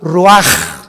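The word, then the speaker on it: רוח: ro así como suena se pronuncia la ch en hebreo como J raj se le só y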